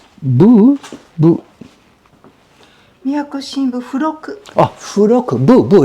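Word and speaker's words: 付録: Oh, Furoku. Bu. It's bu, but pronounced fu. Okay. Okay, Furoku.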